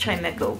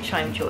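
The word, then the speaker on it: Chimchar: get that chime Cho I know it's it's pronounced chimco but I always call it Chim Cho as a kid can I fight the Chim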